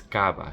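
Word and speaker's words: CABA: And the right way to say it is Cava, C-A-V-A, which stands for Ciudad Autónoma Buenos Aires.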